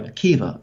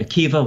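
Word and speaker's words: Akiba: go back to Rabbi Akiva, very big name, obviously. I'm sure most people watching are familiar with Rabbi Akiva, once again spelled with a B-A at the end, but pronounced with a V.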